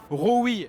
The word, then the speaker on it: Roewe: parler puisqu'il s'agit de Roewe et donc ça se prononce comme ça en Chine et puis finalement ça fait quand même penser à Rover que n'a pas techniquement racheté le groupe SAIC.